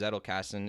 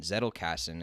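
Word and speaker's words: Zettelkasten: who are at home the word is zettelkassen it's spelled z-e-t-t-e-l-k-a-s-t-e-n zettle cassin it's german i believe and what it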